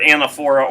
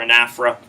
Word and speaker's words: anaphora: that we would have you'll hear two pronunciations for at anaphora or an afro I usually say anaphora I said an afro